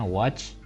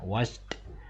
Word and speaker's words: watched: Ini bacanya watched, kita bunyikan deh atau teh di akhirnya, watched.